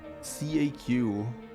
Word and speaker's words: CAQ: Edmund calls them CAQ. Rhymes with Ipecac.